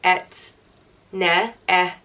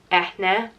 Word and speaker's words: Eithne: There's Eithne, Eithne, or Eithne. And you do pronounce the H in it. So the H isn't silent.